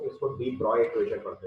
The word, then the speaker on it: de Broglie: तो French language के बारे में आप जानते होंगे कि वहाँ जो लिखते हैं वो पढ़ते नहीं है। तो यहाँ लिखा तो देखो डी ब्रॉगली है, स्पेलिंग अगर आप पढ़ोगे तो इट्स रिटन डी ब्रॉगली, पढ़ते इसको डी ब्रॉय इक्वेशन है।